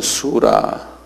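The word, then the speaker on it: سورة: 이분들이 114장 장수가 114장요 장을 수아라 그러는데 수라 이렇게 부르거든요 수라 수라이 이것도 뭐 웬만한 사람 다 아는 소리 이슬람을 아는 사람들은 우리가 뭐 창세기 몇 장하는 장자가 수라 그래 한 발음 해보세요 수라수라 장 이렇게 이야기해요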